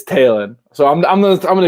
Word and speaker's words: Talen: the same way so i disagree with how the phonetics of his name are pronounced it's taylon so i'm gonna i'm